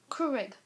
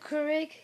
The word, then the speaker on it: Keurig: that copied I made it with my um Keurig I think that's how you say it Keurig yes and the number one these are the